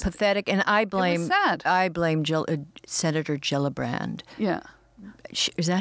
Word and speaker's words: Gillibrand: Or it was pathetic, and I blame Senator Gillibrand. Yeah. Is that how you pronounce her name?